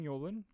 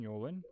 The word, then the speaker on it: Yolen: ends with E, and her last name vaguely rhymes with Bolin. Unbelievably specific, right? The book's name is Wizard's Hall. It was written by Jane Yolen and published in 1991, a few years before Harry Potter.